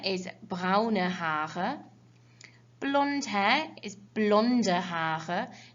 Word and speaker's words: blonde: blonde hair is blonde don't forget when you have an e on the end of a word in german you always pronounce it with that kind of uh sound okay so that means you've got blonde okay red hair is